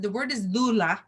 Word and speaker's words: doula: said thee word is dulah that's how you pronounce it in Greek and she says itah